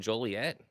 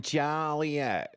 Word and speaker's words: Joliet: You got Chicago Land Speedway over in Joliet. No, no, no, no, no, no, no. Say it right. Over there in Jolliet.